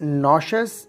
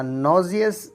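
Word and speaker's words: nauseous: Next word है नॉजियस। नॉजियस इस लफ्ज़ को हम नॉशस या नॉजियस दोनों तरह से प्रोनाउंस कर सकते हैं।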